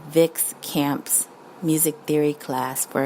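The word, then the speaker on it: Vix: Vic's is spelled V-I-X.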